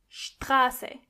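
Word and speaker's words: Straße: The same exact thing goes when you see a T after an S. Together they are scht. For example, Strasse.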